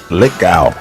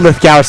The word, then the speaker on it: Lithgow: Lithgow. Thank you. That's not Lithgow. It's spelled Lithgow, but it's Lithgow. It's Lithgow. Okay.